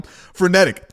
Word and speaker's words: frenetic: PH or is that F? I would say it's pro, if I had to spell it, I'd say F R E N E T I C.